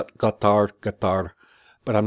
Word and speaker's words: Qatar: for how I'm pronouncing Qatar I know it's pronounced with a glottal stop guitar guitar but I'm not